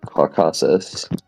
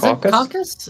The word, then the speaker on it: Caucasus: Co what is it how do you say it it's just cockus Kus cockus it's not it's the Caucasus Caucasus CAU yeah roaches right